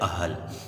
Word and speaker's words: اہل: لفظ استعمال کرتے ہیں، جبکہ اہل لفظ غلط ہے، اس کا درست تلفظ ہے اہل۔ حمزہ پر زبر ہے، ہے اور لام دونوں ساکن ہیں، اہل، ٹھیک ہے بیٹا،